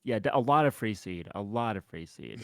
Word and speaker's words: Freeced: Yeah, I mean honestly, like I've heard Freaked and like Free. Freaked is I've heard crazy. Freaked a lot. Yeah, quite a bit. Um, Yeah, so I've written like Free one seed. syllable rhymes with beast.